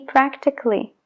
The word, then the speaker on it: practically: En fin, no se pronuncia la A en el sufijo ALLY siempre cuando haya un consonante antes. En este caso, el consonante es la C. Logically, musically, basically y practically.